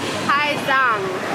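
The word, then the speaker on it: Hà Giang: it's pronounced Ha Giang.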